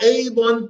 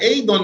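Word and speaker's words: أيضًا: So you should definitely pronounce the tanween in Adon. Okay. You should definitely pronounce the tanween in Adon, except in the event when it occurs at the end of the sentence. When it occurs at the end of the sentence, then you remove it.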